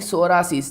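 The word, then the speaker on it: psoriasis: D following statement regarding सोरायसिस देखिए यहां पे पी जो है या पी साइलेंट होगा क्या होगा साइलेंट होगा हां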